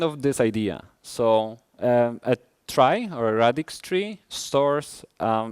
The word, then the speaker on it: trie: of hash array mapped trie. And just to let you know, this is not me making a typo. It's spelled T-R-I-E. It's a trie, not a tree.